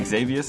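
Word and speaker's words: Xevious: So he's got How do you How do you pronounce this? I've always wondered like the this the number two Xavius, right? Xavius.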